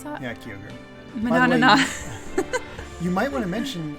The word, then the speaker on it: Kyogre: Heart Gold had Kyogre is that how you pronounce that yeah kogre you might want to mention uh your current